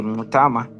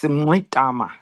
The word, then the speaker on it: Mngxitama: Yes, my name is Andile Mngxitama. It's got those flicks which we inherited from the Khoisan. That's the sound. How do you say that sound, Andile? Is there a click to it? Yes, Mngxitama.